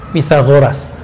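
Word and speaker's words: Pythagoras: TH itu bacanya ta. Pitagoras.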